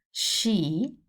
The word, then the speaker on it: sci: If it's followed by I or E, now we know that C with I or E gives us chi. But when we have the S before, just before it, the sound will be like a snake, like a sh sound, sh. So I will say shi and she.